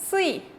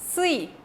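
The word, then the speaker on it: 씨: ¿Cómo va a sonar? Va a sonar como sui, sui, ¿sí? Como un poquito de más fuerza, ¿sí?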